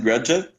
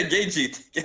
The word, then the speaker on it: Gaethje: Justin Grajic. I Oh, don't know. How to say it. you mean Justin Gaethje? Yeah, Gagey.